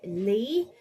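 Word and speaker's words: Leigh: Bay and this is by Judy Lee uh lee is spelled l e i g h so yeah and I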